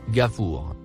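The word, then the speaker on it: غفور: Le premier mot écrit en violet, se prononce « Gafour ».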